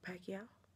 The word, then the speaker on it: Pacquiao: Mayweather and Manny Pacquiao that's how you say his name right pakia yeah I was watching